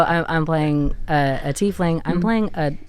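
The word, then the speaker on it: tiefling: A teling, pronounced teling, is Why did I read that?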